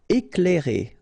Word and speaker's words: éclairer: Éclairer. Okay, C and L together, you will pronounce this cl, cl.